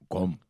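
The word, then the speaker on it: Gqom: Gom.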